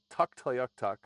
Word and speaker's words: Tuktoyaktuk: to a place called Tuktoyaktuk. Tell me if I'm pronouncing that correctly. That's right.